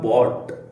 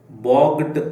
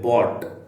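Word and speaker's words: bought: ಜಿ ರೂಪ buying ಆಯ್ತಾ ಇದರ ಉಚ್ಚಾರ ಬಾಟ್ ಅಂತ ಬಿ ಓ ಟಿ ಅನ್ನು ನೀವು ಹೇಗೆ ಉಚ್ಚಾರ ಮಾಡ್ತೀರಿ ಅದೇ ತರಹ ಇದನ್ನು ಉಚ್ಚಾರ ಮಾಡಬೇಕು ಬಾಗ್ಡ್ ಅಂತ ಹೇಳಬಾರದು ಜಿ ಮತ್ತೆ ಹೆಚ್ ಉಂಟಲ್ಲ ಜಿ ಎಚ್ ಅಥವಾ ಯು ಜಿ ಎಚ್ ಯು ಜಿ ಎಚ್ ನ ಉಚ್ಚಾರ ಇಲ್ಲ ಬಿ ಓ ಟಿ ಈ ಮೂರು ಅಕ್ಷರವನ್ನು ಮಾತ್ರ ನೀವು ಉಚ್ಚಾರ ಮಾಡಬೇಕಾಗುತ್ತದೆ ಬಾಟ್ ಅಂತ ಸರಿನಾ ವೀ ಕ್ಯಾನ್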